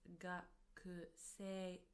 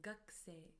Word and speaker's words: gakusei: Although we write it as gakusei, we pronounce it as gakusei, gakusei, as if the u from ku disappears.